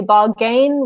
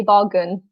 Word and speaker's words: bargain: one as well because even though it's got the word gain in it we don't say Bob gain we say bargain so we're inside syllable